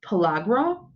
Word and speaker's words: pellagra: tell a little story about, I think it's pronounced pellagra.